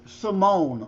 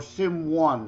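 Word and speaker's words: S1m0ne: drawing a blank with Simone or Sim 1, however you wish to pronounce it. Simone with 1 for the I and 0 for the O because it's about digital simulation.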